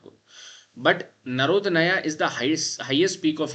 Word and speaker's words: Narodnaya: The spelling or the pronunciation you can see Narodnaya.